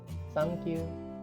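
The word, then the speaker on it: サンキュー: muda di Jepang sekarang sankyu sepertinya tangki sangat jauh sekali ya pelafalannya gitu kalau di Inggris kan Thank you tapi kalau di Jepang itu jadi tangisin sangking jadi terkesan lucu gitu sang you thank you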